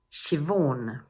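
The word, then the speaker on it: Siobhan: Number one is pronounced: shi-vawn.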